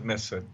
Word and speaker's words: Mifsud: Was how do you pronounce the guy's name who told Papadopoulos? It's Mifut, Misfis. Joseph Mifsud.